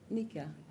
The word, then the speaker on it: Nakia: much next we have I think this is Nakia Nika Nika please I'm so sorry I've mispronounced your name if you could just